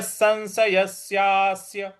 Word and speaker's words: संशयस्य: तदन्य संशयस्या संशयस्यास देखिए स के ऊपर जो अनुस्वार है उसके आगे फिर श है इसलिए इसका उच्चारण हमें न ले आना है तो संशयस्यास जो आधा